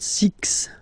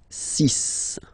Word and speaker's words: six: sunk sunk sunk then be careful here because even if it's ending with this x well you'll have to pronounce it like s okay so you get the sis pronunciation sis sis okay so it's not six it's cis all right then here